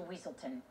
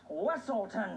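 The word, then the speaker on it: Weselton: And we shall send you straight back to Weaselton. It's pronounced Weaselton.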